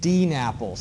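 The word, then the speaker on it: DNAPL: dissolved in the water they're called L napples and D napples that's how you kind of pronounce the abbreviation elpp stands for light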